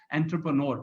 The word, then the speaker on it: entrepreneur: कोई इसको एंटरप्रेन्योर कहता है, कोई कहता है इसको एंट्रीप्रेन्योर, कोई कहता है. सो एग्जैक्टली इसकी pronunciation is a French pronunciation, so it's difficult to pronounce, but इट इज एंट्रप्रेन्योर because ये आपका सपना है बनने का.